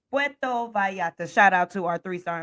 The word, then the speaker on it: Puerto Vallarta: It's Puerto Vallarta.